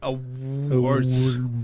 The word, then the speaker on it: Awwwards: It's a www. It's Awwwards. And it's super easy to pronounce for me.